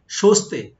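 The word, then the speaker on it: そして: আমারটা হচ্ছে তেমন একটা না তারপরে যাই দেখেন সস্তে সস্তে মানে হচ্ছে এবং সশিতে উচ্চারণটা হয় এমনিশতে কিন্তু আমরা বলার সময় সস্তে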